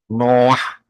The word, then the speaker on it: Noah: Noah, ya itu bacanya.